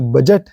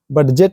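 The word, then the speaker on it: budget: सुनते ही होंगे जो बजट है बजेट नहीं बोलते हैं ना बजट बोलते हैं डी के बाद जी आया है तो डी साइलेंट हो गया बजट ही हो गया लेजर इस वर्ड को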